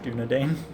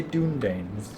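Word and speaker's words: Dúnedain: up here also is actually supposed to be pronounced given a Dane am I of the pronunciation I always say dune gains so speed doing a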